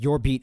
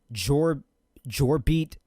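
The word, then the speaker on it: Jorbit: but I think it's I pronounced it as your beat Vivas which I'm pretty sure everybody did when he was first acquired from the Dodgers and um pretty sure Brian said it was Jor jbeat bbus I think so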